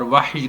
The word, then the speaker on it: وحی: ہے۔ وحی کا تعلق وحی، جس کو ہم اردو بولنے والے وحی کہہ دیتے ہیں، وحی اس کا تلفظ ہے، جیسا کہ قرآن مجید میں فرمایا ان هو الا وحی یوحی، تو وحی اس کا تلفظ ہے۔ وحی انبیاء کے ساتھ